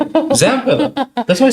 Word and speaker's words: Zampella: Sadly, why do you keep saying Vampella? Vampella. Just I butchered the poor guy's name. God rest. Vince Vampella sounds like a professional wrestling name. Vampella. Vamp. Yeah, Zam. Yeah, let's let's stick to Zampella because dude is not here, right?